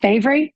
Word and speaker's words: Bavry: Just look up Bavry, and it is pronounced Bavry, and you'll find me on all my socials.